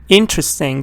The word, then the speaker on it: interesting: when pronouncing these words for example interesting the stress is on the first part when you go